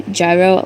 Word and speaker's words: gyro: I say gyro like a euro. No, you're right. It's a hero. It's a hero. It is gyro, but I am like strictly American.